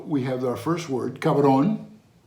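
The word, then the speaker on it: cabrón: So we have our first word, cabron, ka, that's two sounds, the k and the a, ka, and then the v, you spell it as a B, but the Spanish B is a lot softer. You say it, ka, and then the R and the O in the end. So it's cabron.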